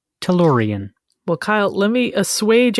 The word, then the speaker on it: Tellurian: your alley okay okay your word today is Toran Toran is spelled t l l u r i a n Toran well Kyle let me assuage any fears you